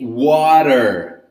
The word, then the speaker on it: watermelon: When the letter T in English is between two vowels, in this case A and E, so when letter T is between two vowels, you're going to read it with a different accent, different intonation, right? So we say watermelon, water. It's a mixture between letter R and letter D.